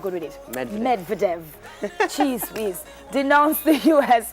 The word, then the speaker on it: Medvedev: Russian Prime Minister Dmitry Medvedev, please pronounce that name for me, I'm not good with it. Medvedev.